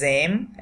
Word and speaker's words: aiment: আমাদেরকে শুধু উচ্চারণ করতে হবে AIM, এইটুকু এম। তাহলে nos enfants aiment, একসাথে পড়লে j'aime, ভেঙে ভেঙে পড়লে nos enfants aiment.